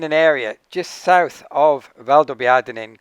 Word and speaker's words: Valdobbiadene: Valdobbiadene. Valdobbiadene. And the other unpronounceable is Conegliano.